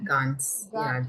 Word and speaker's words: ganz: கான்ஸ். GANZ கான்ஸ். கான்ஸ். Ganz gut, danke. இந்த நான் சொன்னேன்னா வந்து ஏ மாதிரி ப்ரொனவுன்ஸ் பண்ணும்.